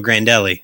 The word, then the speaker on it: Grandelli: out yeah that's fine yeah all right so grandelli am I saying that right yeah you didn't want to do a mangled Italian pronunciation for that oh yeah